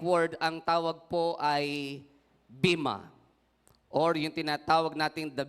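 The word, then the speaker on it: βῆμα: ang tawag po ay bima, or yung tinatawag natin the bima judgment. Sa ibang translation ho ay pinopronounce po nila sa Greek word ang bima na ito na bima. Vema, parang may Y, which means raised platform.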